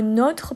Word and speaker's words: nôtre: Par exemple, on fait la différence avec le mot nôtre, par exemple, c'est le nôtre. Le nôtre, il a un accent, donc le O est fermé.